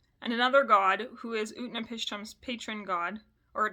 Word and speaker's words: Utnapishtim: So Gilgamesh gets concerned about life and death, so he seeks out an immortal man named Utnapishtim. And that's exactly how it sounds.